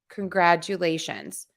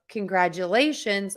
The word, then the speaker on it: congratulations: congratulations on your graduation it's that you in there that I think you were all hearing that is throwing you off so just remember there's that you or Jew in there that um add that